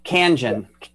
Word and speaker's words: Kangen: then also this Kangen, is that how you pronounce it? Kangen? Kangen.